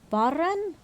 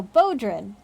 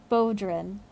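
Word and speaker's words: bodhrán: you how do you pronounce it like bo oh bodrin oh wow the only thing i didn't try bodrin oh well now now that you say it sounds obvious baudrin thank you kaney whereupon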